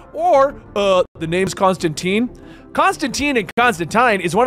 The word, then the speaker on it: Constantine: accepted to call him Constantine and Constantine. The hardcores know that the original pronunciation is Constantine, but Constantine is what is said generally everywhere else at this point.